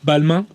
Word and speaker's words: Balmain: the infrastructure throughout Europe yeah fashion house Pierre Balmain got it right or Velma as a believing will be pronounced in French and he was in the